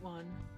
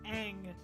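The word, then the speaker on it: Aang: certainly not a great one uh oh the last air bender yeah that one I I don't even know what was going on with that one the fact that they mispronounced Ang as on just blows my damn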